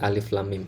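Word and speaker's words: الم: Nah khusus pada alif itu cara bacanya dieja ya, jadi tidak boleh diharokati atau alam mim gitu nggak boleh ya, atau kasroh atau domah ya, harus dieja yaitu alif ya.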